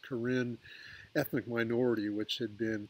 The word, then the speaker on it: Karen: refugee camps in Thailand the Karen that's k-a-r-e-n that pronounced Corinne ethnic minority which had